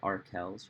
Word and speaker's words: Arkells: got to get it i'm saying it right arkells right okay i'm glad we got